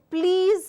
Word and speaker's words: please: again highly mispronounced so please has a z sound let's get this together please has a z sound and listen has a s sound a please a common